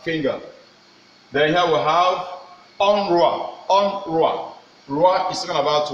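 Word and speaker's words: un roi: And let us see how the thing is being pronounced. Here we have onduat. Onduat. That is talking about finger. Then here we have onrua.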